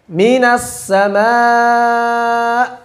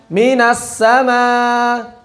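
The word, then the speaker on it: من السماء: Begitu juga ketika ada hamzah di akhir, sudah disinggung juga, mesti jelas dan sedikit ditekan, yakni di nabar. Minas sama'a, bukan sekadar membacanya dengan minas sama'a, belum cukup. Ada nabar sedikit. Minas sama'a, silakan.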